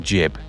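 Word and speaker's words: Ghibli: Every time I say studio jibli, it just sounds wrong. Jib. Should be gibb, shouldn't it? But it is actually jib or somewhere in between the two with the Japanese pronunciation.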